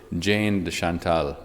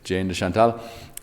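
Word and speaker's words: Jane de Chantal: interesting friendship himself and in English we call her Jane Des Shantel so sorry the pronunciation is not very French but that is what we call her in English Jane the Shantal and uh she was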